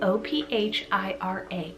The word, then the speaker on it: Ophira: spellings i have the name of era spell o p h i r a ophira or instead of the ph you can